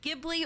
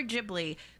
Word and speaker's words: Ghibli: I am aware that there's some discourse about whether it's pronounced Ghibli or Ghibli, because even though the name originated from the word Ghibli with a hard G, the Japanese spelling and pronunciation of it is Ghibli.